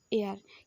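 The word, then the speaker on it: heir: Example देख ए आई आर एयर, एच ई आई R Madhya एयर, किंतु ए आई आर एयर माने होची वायु, एच ई आई आर एयर माने उत्तराधिकारी। सेम उच्चारण होतबा डिफरेंट मीनिंग।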